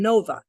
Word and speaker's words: Nova: behind it but Nova you break that into two syllables no but the VA in Spanish is like ba these are like ba right so Nova Nova hey